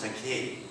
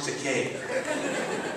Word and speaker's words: Takei: oh well it's pronoun the vowels are pronounced just like in Spanish e is given the e sound like esqu and I is given the e sound like an Iglesia it's pronounced te however there is a